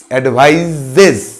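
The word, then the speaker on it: advises: I take all অ্যাডভাইসেস অফ my mother, আমি আমার মায়ের সব উপদেশগুলোকে গ্রহণ করি, বিকজ শি অ্যাডভাইজেস, অ্যাডভাইজেস উচ্চারণটা লক্ষ্য করো, অ্যাডভাইজেস, অ্যাডভাইজেস, শি অ্যাডভাইজেস মি অ্যান্ড I take all হার অ্যাডভাইসেস, অ্যাডভাইস আর অ্যাডভাইস, মনে থাকবে দুটো?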